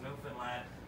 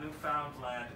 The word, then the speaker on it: Newfoundland: Finland a blue stars a beer and it's pronounced New Finland not New Foundland or New Finland New Finland is the oldest